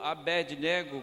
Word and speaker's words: Abednego: Ele, juntamente com aqueles 3 corajosos companheiros, Sadraque, Mesaque e Abdênego, ou Abednego, como alguns pronunciam mais literalmente do texto.